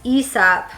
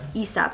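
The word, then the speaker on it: Aesop: yeah um this is esap I think it's pronounced isap esab yeah I would have assumed it's like ASAP Like asap's Fable but it's esap apparently their Resurrection hand wash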